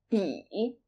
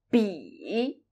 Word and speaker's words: 比: 比, 比, 比 is a third tone, so when you pronounce 比, make sure you start from a very low end of your vocal range. 比, 不, 不, 不 can